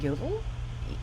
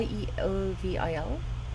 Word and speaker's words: Yeovil: by the way at you i may be mispronouncing this at yeovil y y-e-o-v-i-l i'm going to pronounce it yeah i by